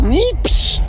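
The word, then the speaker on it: neeps: Och, nieps.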